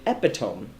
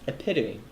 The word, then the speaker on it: epitome: mispronounced it would the word was epitome I pronounced it epitome how it actually looks somebody said well you're wrong so really huh I went I checked and it's actually pronounced epitome and I had to condition myself it's like